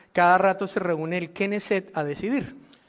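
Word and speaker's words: Knesset: Y en hebreo moderno, de allí salió la palabra Keneset, que significa parlamento. ¿Cómo se dice parlamento en hebreo? Hebrew Keneset.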